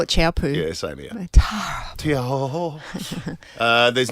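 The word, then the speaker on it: Teahupo'o: He's in Tahiti, in Teahahu. For the How do you say it? I can't remember. Is it Teahapu? I call it Chaupu.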